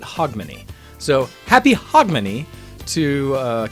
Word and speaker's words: Hogmanay: one's more browser peace Hogmanay and I always say it wrong but hog money so happy hog money